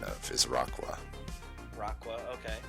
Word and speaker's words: Raqua: Raqua, that's another one I learned the pronunciation of, is Raqua. Raqua, okay. A mix between rock and aqua.